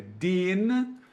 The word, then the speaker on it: den: Então a gente fala den e den, só que no alemão não pode. É den e dem, ok?